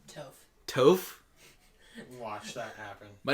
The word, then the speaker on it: Toph: They call her Tough. No, Toph.